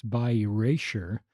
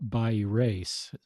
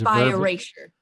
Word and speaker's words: bi erasure: I've actually mispronounced it in this podcast. It's bi erasure, not bi erase. Right. It's bi erasure.